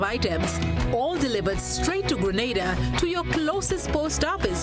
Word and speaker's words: Grenada: So today, like we Germans say, we are in Grenada. But I heard in English it's called Grenada. Say it right. Grenada. Say it right. Grenada. That's right. Grenada. There we go. Say it right. It's Grenada.